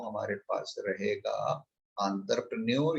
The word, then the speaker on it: entrepreneur: एंटरप्रेन्योर actually इसका जो pronunciation है इज एंटरप्रेन्योर, क्योंकि ये फ्रेंच वर्ड है, वो जीभ घुमा के बात करते हैं। लाइक लेज़-फेयर, लियोन, ल्यूटियन, तो वो मुंह गोल हो जाएगा, टंग ट्विस्ट होगी, तब इनकी प्रण बहुत सारे लोग इसको एंटरप्रेन्योरशिप बोल देते हैं, वो गलत प्रोनाउंसिएशन, इट्स एंटरप्रेन्योर, मतलब मुंह गोल होगा, टंग ट्विस्ट होगा, ठीक है।